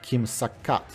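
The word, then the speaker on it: 김삿갓: In Korean, the name is pronounced “Kim Sak-gat”, and it is also a moniker of Kim Byung-Yeon, a travelling 19th century poet.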